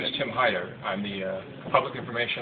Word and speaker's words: Heider: reintroduce or you set my name is Tim Haider I'm the uh public information officer for clus County and the last name is spelled h EI d r and uh the